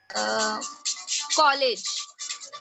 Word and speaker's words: college: College. College. College. College. So, College. how it will be stressed? 2 syllables.